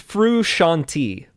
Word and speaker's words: Frusciante: It's Frusciante. Frusciante. Never said that one. Had it wrong the whole time. Frusciante. Frusciante. It sounds like a refreshing drink.